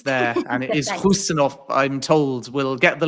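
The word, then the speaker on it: Khusanov: So tell us a little bit about Marmoush, Hayes and Huzanov as well. Yeah, great pronunciations there. And it is Husanov, I'm told.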